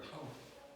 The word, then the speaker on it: 타우: 타우라고 읽어요. 타우.